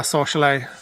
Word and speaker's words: Sorsele: Celia, she pronounces it Sorsel. Sorsel. Yeah, we said Sorsele and she was like, really? I'd pronounce it Sorsel, so I guess it just depends where you're from.